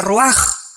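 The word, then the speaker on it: רוח: con r de Raúl a c h se pronuncia raj por ejemplo cuando hablamos del Espíritu Santo El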